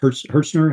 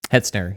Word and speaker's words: Hetzner: And you guys know this firsthand with was it Hertzner? How do you pronounce it? Hetzner, yeah.